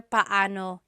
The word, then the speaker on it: paano: It's technically paano. Paano. When there are two vowels together, you say them separately. Paano. But when speaking quickly, Filipinos just say paano.